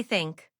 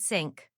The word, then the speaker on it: think: Now, say think. Pause, did your tongue touch your teeth? If it stayed inside your mouth, you said sink.